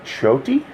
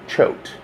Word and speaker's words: Choate: you're going to the chhoti factory it's pronounced Choate I said rhymes with throat and so the cabbie